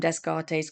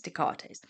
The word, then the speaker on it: Descartes: Renee Dartes and I I apologize cuz I always call him Desgartes cuz that's how it's spelled but it's really nice Dartates and he is the